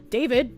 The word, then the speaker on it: D4VD: David, pronounced David, became an online musical phenomenon as a teen with a blend of indie rock, R&B, and lo-fi pop.